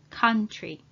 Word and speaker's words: country: is the word country country please note that o and u together are pronounced as ah ah for example what